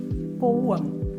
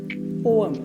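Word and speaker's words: poem: അടുത്ത വേർഡ്ആണ് പി ഒ ഇഎം പോയം അല്ല പോവം പോം ഇത് ഇംഗ്ലീഷിൽ ടു സിലബിൾ ഉള്ളൂ പോ അം ബ്രിട്ടീഷ് പ്രൊനൗൺസിയേഷനിൽ നമ്മൾ പോം സ്ട്രെസ്സ് ഫസ്റ്റ് സിലബിൾ ആ രണ്ട് സിലബിൾ ഉള്ളൂ ഫസ്റ്റ് വണ്ണിൽ നമ്മൾ കൂടുതൽ സ്ട്രെസ്സ് ചെയ്യും പോം പോം അപ്പോ നിങ്ങൾ ഇങ്ങനെ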